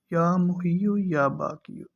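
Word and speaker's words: یا محیی یا باقی: محیو اور یا باقیو۔ یہ تلفظ جو ہے نا یہ آپ نے ذرا خیال سے پڑھنے ہیں، یا محیو یا باقیو۔ تو یا محیو کے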